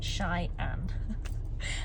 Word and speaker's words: Cheyenne: are heading off to Cheyenne which I've been told that's how you pronounce it Shy an um but it's about